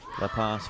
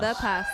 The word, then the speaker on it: The Pas: La Pass would The be Pass. the French pronunciation. Yes, Or but it's not Le. It's The Pass. The Pass, okay.